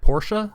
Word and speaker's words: Portia: My Time at Portia, is that how you say it?